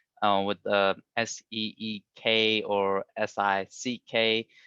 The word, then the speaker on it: Sikh: lot of people say seek with the s-e-e-k or s-i-c-k but it's pronounced sick though sick word means